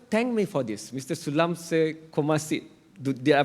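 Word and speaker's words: Saleumxay Kommasith: Sulamse Komasit. Did I pronounce that right?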